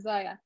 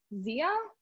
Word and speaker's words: Zaya: Like nobody heard of Zia. How do you pronounce it? 2 years ago when we all started, 3 years ago when we started, that's still happening now. I still call it Zaya, papaya, because it drives me